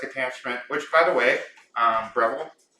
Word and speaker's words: Breville: Came with a whisk attachment, which, by the way, Breville, that's how you say it, Breville.